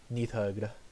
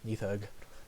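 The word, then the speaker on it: Níðhöggr: Old Norse on it the way you pronounce nidhogg his name is Nathan Neath hug ya nuthug and he is also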